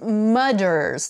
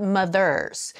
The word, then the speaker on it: Mudder's: not pronouncing clearly enough it is Mudders like m-u-d-d-d-e-r apostrophe s not mothers as the Mudders was